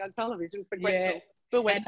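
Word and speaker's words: Bueta: You got to do Gretel Buetta.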